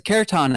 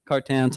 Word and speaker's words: kirtan: He's kind of yells at me, "Where's the kirtan at?" And I said, "What?" And he's like, "Where's the kirtan?" He called it kirtan or something, but he mispronounced it, kartan, something like that.